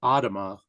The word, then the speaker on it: Adema: And when my dad, so it's Adema, it's Dutch.